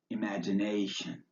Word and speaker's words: imagination: this scene for example the TI in imagination is pronounced like SH imagination step 10 is your